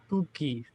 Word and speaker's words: Cougkie: his website at, help me out with the pronunciation here, is it Kougkie? Kougkie.